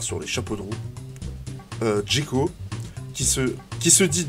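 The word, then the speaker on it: Džeko: Djeko, qui se dit Djeko, hein, puisqu'il y a un caron sur le Z. Le caron, ça se prononce che. Donc Z, che, ça fait dj. Donc Djeko catapulte le ballon au fond des filets, après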